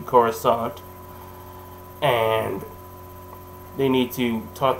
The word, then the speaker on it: Coruscant: to go to coruscant which they said kuroskant yeah this was before the uh like i said this was before the prequels gave the proper pronunciation so it's actually coruscant and they need to